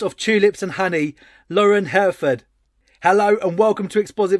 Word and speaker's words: Hereford: The Hereford steak, and so yeah, it's always how I pronounce it when people say, "How do you say your last name, Hereford?" Like the cow.